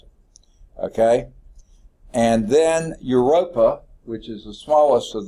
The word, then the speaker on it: Europa: it okay and then your ropa which is the smallest of the four EU EU ROP a you rope up sort of like Europe it starts like that but it's a at